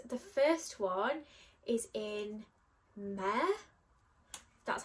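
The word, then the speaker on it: Mehr: The first one is in Mare, that's how you say it, and it is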